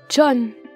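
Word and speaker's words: 전: kimang à vous kimang son nom de famille comprend un un et un N il se prononce donc John la première syllabe de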